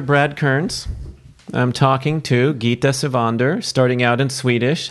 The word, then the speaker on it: Gitta Sivander: okay yo Hector Brad Kearns I'm talking to Geeta Sivan Durr starting out and Swedish how was that was my pronunciation of your name and my greeting in